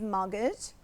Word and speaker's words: mortgage: the correct answer is mortgage, because it is in the past. And mortgage means, be careful of this word, because we don't pronounce the T. It's a silent letter.